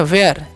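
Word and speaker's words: where: हैं तो ठीक है डब्लू एच ई आ में पढ़ते हैं वयर वयर मतलब कहां वयर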